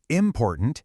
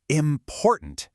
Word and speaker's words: important: It's not important, it's important with the stress right in the middle.